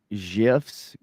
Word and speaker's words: GIF: It's people that call GIFs. Yeah, it's actually the creator of it literally told everybody it's pronounced GIF.